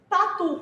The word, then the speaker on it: tatu: Tatu, qual que é a sílaba tônica? Tu. Oxítona, paroxítona, proparoxítona. Oxítona.